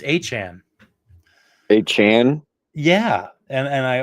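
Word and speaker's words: Achane: So that's where you can see it, and he actually says A Chan, not A Chain.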